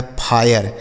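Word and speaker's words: fire: गया फाय, RE से र, यह लिखा गया फायर, इसे क्या पढ़ा जाएगा, फायर। ये देखिए कैसा उच्चारण हो गया, इसे पढ़ा जाएगा फायर।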